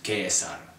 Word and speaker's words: Caesar: Caesar and so on the correct way to pronounce his name in classical Latin the only correct way of pronouncing the language of the Romans is Gaius Julius chaos on the most persistent misconception